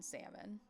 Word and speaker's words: salmon: I'm overpronouncing the L in salmon.